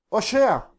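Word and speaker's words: הושע: oseas Qué es oseas oseas en hebreo es oshea Osa es oseas y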